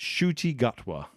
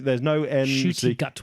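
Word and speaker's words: Ncuti Gatwa: It's Shooty Gutwa. Oh, well done. There's no N. Shooty Gutwa. It's Shooty. The sh sound is the NC sound. So that's Shooty Gutwa.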